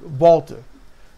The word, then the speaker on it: Walter: referencing that he was Walter or Walter whichever you want to pronounce it uh over where he's from Volkswagen so Walter with the kind of a Vish W sound so and he says